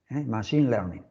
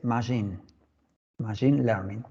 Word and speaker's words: machine learning: No se dice machine con CH, se escribe CH, pero se pronuncia como si fuera SH, Machine Learning.